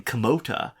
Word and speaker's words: Kimota: km o da a which for the way that we pronounce it well that makes sense sorry k a m o d a yeah uh it makes total sense but we are actually saying kamota uh k i m